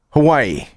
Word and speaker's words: Owyhee: Hawaii.